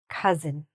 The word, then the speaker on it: cousin: Uh so, forget that o and just say it like cousin.